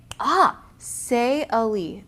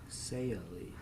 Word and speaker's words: Saili: Saili. That is beautiful. Saili. I was way off. Saili. I was going to say sail because S-A-I-L, but I didn't know. Because she pronounced it S-A-Y-U-H. Right. Lee. Saili.